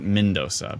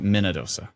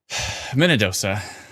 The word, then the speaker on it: Minnedosa: mina dosa i see so not mindosa but minadosa minnedosa not minnesota every time i go